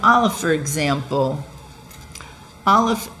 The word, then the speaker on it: aleph: like olive for example aleph is a silent letter it's the sound before sound it is the primal